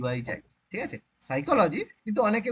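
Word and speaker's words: psychology: এবার পি আগে থাকে যেমন নিউমোনিয়ার আগে পি থাকে সেরকম সাইকোলজি পি এস।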